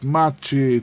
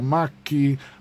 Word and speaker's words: Macchi: quand j'ai osé dire machi ça se prononce maki maki non en fait